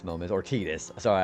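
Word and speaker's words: Tidus: One of the many Oh, Titus moments or Tetus. Sorry, I should probably start saying Tetus instead of Titus because that's more accurate apparently.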